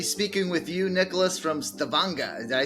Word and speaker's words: Stavanger: So we're actually, they pronounce it Stavanger. So there's a skara R, a very rough R at the end, and they've got a very lovely accent out here. But Stavanger.